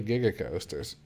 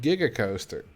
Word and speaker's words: giga coaster: can't say the stand the way you say gigger coasters what's wrong with giga coaster like that's how you say it at least that's